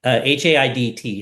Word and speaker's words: Haidt: Haidt. How do you pronounce that last name?